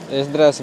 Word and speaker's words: Esdras: Esdras, se escribe, Esdras se escribe con E-S-D-R-A-S, es con.